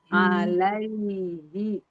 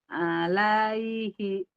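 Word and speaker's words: عَلَيْ: naik ke langit-langit la alai la tuh bukan ke i tapi ke ya lai tuh alaii mangga Alai.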